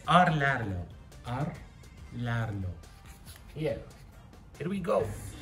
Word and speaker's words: Rlaarlo: It's Rlaarlo.